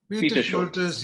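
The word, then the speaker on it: Peter Scholtes: How do you pronounce it? Peter Schultes. Peter Schultes, yes.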